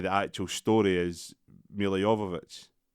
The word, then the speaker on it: Jovovich: actual story, is Milla Jovovich. How you say it? It's Jovovich. That's how it's spelled. I just don't say it. I know. I used to say Djokovic, but I think I'm saying it wrong.